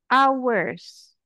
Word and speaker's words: hours: over here we have hours ya hours h-nya gak dibaca it's silent the hours are great